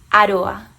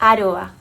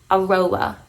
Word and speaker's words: Aroa: of the country, and the name goes like this: Aroa. Let me say it again: Aroa. This is the way it sounds originally. In the UK, they say it like this: Aroa, which is perfectly fine. We all roll our R's the best way we can, right? So roll your R's the best way you can. It sounds beautiful both ways.